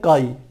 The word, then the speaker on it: chi: उससे प्रदर्शित करते हैं, जिसे हम कहते हैं काई, CHI, और उच्चारण इसका होता है काई।